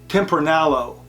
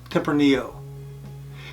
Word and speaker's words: tempranillo: off with would be tempranillo many people call this tempronillo but the correct pronunciation is tempranillo temporaneo wine comes from